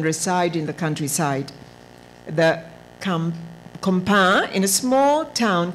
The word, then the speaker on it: campagne: Pronounced campagne.